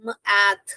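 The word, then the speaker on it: math: तो यहां पर यह मैथ जो है अनवॉइस साउंड है क्योंकि मैथ बोलते हैं। टी एच जो है हमारा वाइब्रेशन नहीं हो रहा है।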